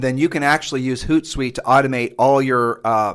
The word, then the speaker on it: HootSuite: use a system called hoot site um it sounds exactly it's spelled exactly like it sounds and then you can actually use HootSuite to automate all your